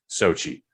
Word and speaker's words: Xochitl: played by Xochitl Gomez, which isn't spelled phonetically Sochi. I can't. Don't ask me to spell it. And I was thankful enough to see enough YouTube videos that pronounced it Sochi.